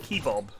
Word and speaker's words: kebab: Well, we had the same thing, just without the lamb kebabs in. In America, why do they spell it kebab?